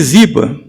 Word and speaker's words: Ziba: A gente fala Ziba, mas talvez seja Zibá, porque no hebraico a tonicidade é nas últimas sílabas.